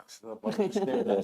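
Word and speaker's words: Mayos: Mayor's Land. How do you spell that? M-A-Y-O-S, like mayonnaise. Mayor's Land.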